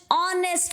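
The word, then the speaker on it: honest: now Mohan is dash ऑनेस्ट man again यहां पे H silent है तो ओके आगे आपका क्या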